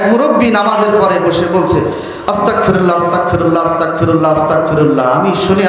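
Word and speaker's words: أستغفر الله: শব্দটা হবে আস্তাগফিরুল্লাহ, গাইন দিয়ে উচ্চারণ হবে। আরবি শব্দ গাইন, বাংলা শব্দ দিলে গ, সেখানে যে আপনি ক দিয়ে উচ্চারণ করলেন ক, আস্তাগফিরুল্লাহ আস্তাগফিরুল্লাহ।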